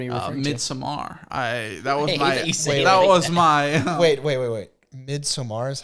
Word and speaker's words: Midsommar: Midsommar is how it's pronounced?